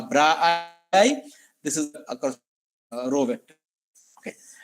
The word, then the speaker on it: bra: column vector and this actually is pronounced a bra this is row Vector